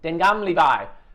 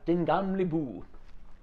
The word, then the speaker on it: Den Gamle By: The first time I did it, I was Den Gamle By, and everyone just laughed at me. Now it's Den Gamle By.